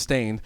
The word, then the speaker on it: Staind: we are talking about stained uh pronounced stained is an American rock